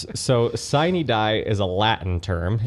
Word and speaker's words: sine die: So, sine die is a Latin term. It's spelled s i n e die d i e.